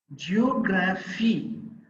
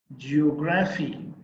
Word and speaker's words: geography: one from the last the third syllable from the last is the stressed syllable in a word ending with cy or gy or phy or gy autocracy uncertainty geography radiology next the words